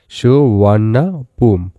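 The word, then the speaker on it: สุวรรณภูมิ: The name সুবর্ণভূমি is pronounced S সুন্নাপুম। সুবর্ণভূমি নামটি সুন্নাপুম উচ্চারণে বলা হয়।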